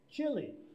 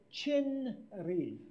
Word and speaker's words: 진리: 자, 한국말로 진리인데, Now, you would like to read it chinri. 근데 한 글자씩 하게 되면은 진리가 됩니다. That would be wrong. Yeah, 이렇게 발음되면 안 되고 Too harsh. 발음하기 어렵습니다. So the Koreans kind of smoosh it together, so it's chili, 그래서 목사님은 아주 여는